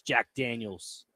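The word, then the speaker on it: Jack Daniel's: But when you pronounce the company, it's Jack Daniels.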